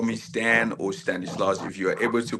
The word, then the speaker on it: Stanislaus: It is Stanislaus.